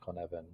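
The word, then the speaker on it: Cynefin: foreign how does complexity help leaders navigate complexity there's a wonderful leadership decision framework called kanevin the sensor vacuum framework c-y-n-e-f-i-n pronounced convene and it was created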